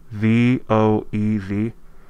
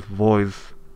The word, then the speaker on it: Voez: It's V-O-E-Z. Supposedly pronounced as Voez. Voice or anything like that.